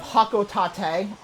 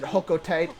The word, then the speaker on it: Hocotate: his home planet of hakot Tate God I hate how it's pronounced and from this point on I will pronounce it hoko Tate on purpose and from there it's